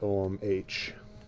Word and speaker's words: Ogham: i believe it's at omh and om is pronounced that way but spelled o g h a m um is hmm